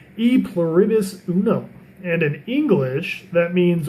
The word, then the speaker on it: E pluribus unum: It's pronounced E pluribus unum, and in English that means one of many.